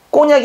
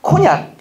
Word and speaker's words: 코냑: 꼬냑이 아니라 코냑.